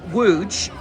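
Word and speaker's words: Łódź: For example, Wuj is spelled L O D Zed.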